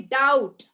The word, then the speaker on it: doubt: it's debt he says and you also say doubt right mom i have a doubt do you